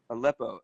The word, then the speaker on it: Aleppo: Aleppo.